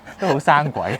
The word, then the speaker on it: Purosangue: it’s pronounced I’ve searched on Google Its Italian pronunciation is Purosangue That’s interesting Yes.